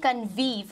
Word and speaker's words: convive: एक है कन्वीव और दूसरा है कॉन्वीव। सो कॉन्वीव और कन्वीव दोनों के नाम से आप इसे प्रोनाउंस कर सकते हैं।